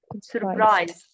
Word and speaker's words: surprised: surprised surprised okay surprised forget about e don't pronounce it okay surprise surprised yes so the answer